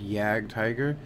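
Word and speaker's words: Jagdtiger: then of course the the J is actually silent in Germany well not silent it actually sounds more like a y so it actually is pronounced yag tiger and then there is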